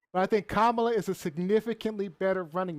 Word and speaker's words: Kamala: right you said it right but i think kamala is a significantly better running mate because one